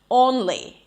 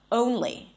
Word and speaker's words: only: or before another syllable, like only instead of only, or goal instead of goal.